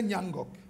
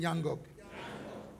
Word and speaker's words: Ngnangock: Say Ngnangock. Say it again, Ngnangock. It sounds difficult to pronounce, but it's a sweet name.